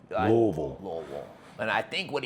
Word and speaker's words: Louisville: And Say it like you have a roll of quarters in your mouth. Louisville.